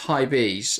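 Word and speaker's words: Hibs: put it past him he gets pronounced High bees okay I'm on the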